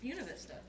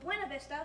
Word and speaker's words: Buena Vista: after the battle of buena vista from the mexican-american war because the surveyors were german they gave the county the german pronunciation of buena vista instead of the spanish pronunciation abuena vista oh nice